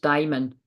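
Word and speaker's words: daimon: have a oh sorry it's not Damon it's pronounced diamond oh good cuz I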